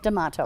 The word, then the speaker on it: Damato: It's Damato, right? Did I say it right? Damato. That's right.